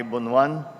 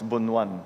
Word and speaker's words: Bonoan: secretary secretary uh mani bonan and that's the proper pronunciation by the way of his uh of his name it's not bonan it's bonan um uh the the proper ilokano translation uh The Honorable members